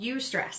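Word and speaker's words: eustress: type of stress is called you stress this is spelled EU stress right not you it's a you stress right this is stress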